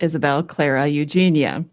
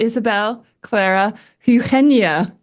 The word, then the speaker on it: Isabel Clara Eugenia: So when I read the name in my American accent, I would pronounce it Isabel Clara Eugenia.